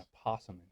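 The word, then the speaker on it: opossum: As long as I'd like to have an apossum here. An apossum. You're the only person I know who pronounces the O.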